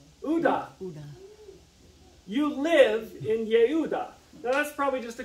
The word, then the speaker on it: Judah: Kingdom is called Judah which in Hebrew is pronounced what Judah close it is Yuda why because you got to pronounce that J